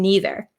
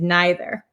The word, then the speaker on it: neither: And we can pronounce these two ways. So my pronunciation as an American from Wisconsin, I say either and neither. But other people in America, and I think in England, if Simon's in here, you can correct me. Some people say either and neither. Okay, so both are correct. So whichever pronunciation you'd like to use, that is okay.